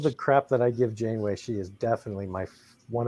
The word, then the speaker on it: Janeway: this once coffee black who is Captain Catherine January that's right you pronounced your wrong bird it's insane way my bad we with all of the crap that I give Janeway she is definitely my one of my top